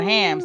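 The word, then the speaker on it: Thames: Elaine says Elaine says the Thymes is the river the tea is hams so it's called hams the team the t is silent hmm that's why I love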